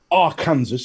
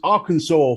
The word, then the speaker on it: Arkansas: my mind completely i've just googled how to pronounce our kansas as you say and there is two there's arkansas for the where people live and then there's arkansas the river in our facebook group